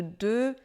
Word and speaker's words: de: encore vous marquerez que le D de de est très peu prononcé il avait besoin de